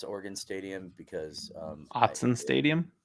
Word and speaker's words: Autzen: God, I'm not even going to try to pronounce Oregon Stadium because Autzen Stadium. Autzen, yes. The other weekend I was having a conversation with a friend and I think I called it Auschwitz Stadium.